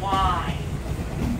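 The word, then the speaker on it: wye: turn around on what we call a y okay it's spelled w y e a line it's great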